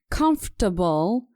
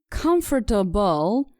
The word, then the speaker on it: comfortable: move on to comfortable this word is pronounced comfortable in American English and comfortable in British English let's listen to an